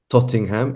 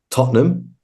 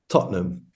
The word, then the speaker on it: Tottenham: the world which is Tottenham hot Spurs be careful with the pronunciation people because it is not tottingham it is Tottenham I'm just going to